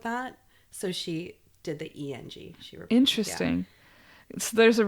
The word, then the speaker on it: Eng: Well, I'm glad you shared Esther Eng. Eng.